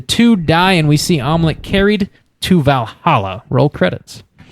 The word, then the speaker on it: Amleth: the chest the two die and we see omelette carried to valhalla roll credits nailed it i